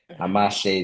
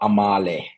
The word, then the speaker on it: Amahle: Amashe is a m a h l e. Or Amale, as you like to pronounce it.